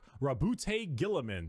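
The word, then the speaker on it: Roboute Guilliman: Primarch, Rabute Gilliman. That's how it's said.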